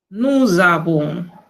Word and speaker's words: nous avons: Nous sommes, nous avons. Es este sonido de la S que se convierte en Z.